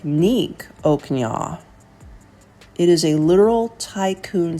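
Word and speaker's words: ឧកញ៉ា: I may be butchering this, but it's pronounced Oak Nya or Oak Nya on many of the business cards here.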